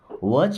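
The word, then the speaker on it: watch: जाओ वच your brothers वच मीस देखो टी साइलेंट है यर मीस अपने ब्रदर्स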